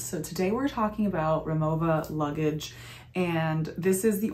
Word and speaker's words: Rimowa: of crisscross the pronunciation w's are pronounced like v's and v's are pronounced like w's so the proper pronunciation is remova and i have one